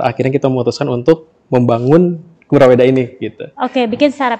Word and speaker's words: Kuraweda: PT kuraweda Palagan inotex kuraweda bukan curaweda ya dibacanya dibacanya Mungkin ada yang bilang kura ada yang cura gitu ya sebetulnya apa tuh Mas sebetulnya curaweda kayaknya Cuman karena spellingnya biar enak jadi kuraweda kurawedaitu jadi Mungkin sedikit